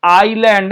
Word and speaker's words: island: এটার উচ্চারণ কিন্তু হচ্ছে আইল্যান্ড, হ্যাঁ, ISLAND আছে, বাট we have to pronounce it অ্যাজ আইল্যান্ড।